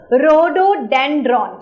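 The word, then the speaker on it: Rhododendron: अब बहुत सारे बच्चे प्रोनाउंस नहीं कर पाएंगे, बहुत सिंपल सा नाम है, देखो रोडोडेंड्रॉन।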